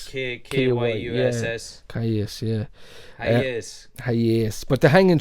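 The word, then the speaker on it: Kyuss: How do you pronounce it? Caius. K-Y-U-S-S. Caius, yeah.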